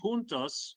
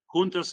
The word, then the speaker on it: juntos: Juntos, of course, means together, both in Spanish and in Portuguese. Different pronunciation, it's juntos in Spanish and juntos in Portuguese, but the meaning is the same, together.